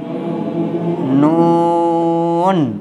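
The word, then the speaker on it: نون: ব্যাস, তাহলে দেখেন এই অক্ষরটা উচ্চারণ করতে গেলে জিভের আগা অপর দাঁতের গোড়ায় লেগে জিভটা ফিরে আসবে, আবার লাগবে, উচ্চারণটাকে লম্বা করতে হবে।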